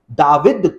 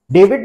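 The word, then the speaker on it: דָּוִד: है हिब्रू भाषा में, दाऊद को हिब्रू में दाविद कहा जाता है। हिब्रू के अंदर दाविद कहा जाता है। अगर इंग्लिश में हम उसकी स्पेलिंग लिखे तो दाविद की स्पेलिंग होती है DVD, डेविड नहीं लेकिन DVD, दाऊद की स्पेलिंग होती है।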